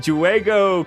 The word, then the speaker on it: juego: La jota se pronuncia así. Jota.